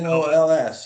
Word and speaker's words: NOLS: Is that how you pronounce it? NOLS? Yeah, NOLS.